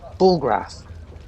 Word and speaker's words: Bullgrath: Bullgrath. Oh yeah, that's Bullgrath.